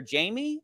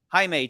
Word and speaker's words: Jaime: and she'd go oh um you're uh you're Jamie and he would go it's actually it's pronounced anime and she would go oh okay Jaime take a seat that's what would happen in